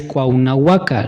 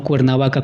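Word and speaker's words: Cuauhnāhuac: Por ejemplo, se tiene el conocimiento que la ciudad de Cuernavaca en realidad es Cuauhnahuaca, no Cuernavaca como tal.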